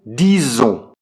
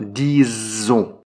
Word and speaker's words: disons: Nous disons. Attention à la prononciation, disons. Donc on prononce comme un Z.